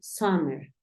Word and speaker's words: summer: Es un sonido que nosotros es como si quisiéramos empezar a decir una A y terminamos diciendo una O.